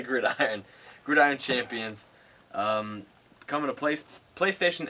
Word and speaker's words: Gridiron: I was thinking Gridian for some reason, but it's definitely Gridiron.